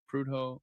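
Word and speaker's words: Prudhoe: Uh, wait, you mentioned uh uh Prudo Bay, how do you pronounce that? Prudo.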